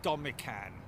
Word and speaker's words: Domican: Oh, sorry, it's pronounced Domican. Thank you, Shay. I did say Domican, didn't I? I said Domican. Oh, it's Domican, sorry.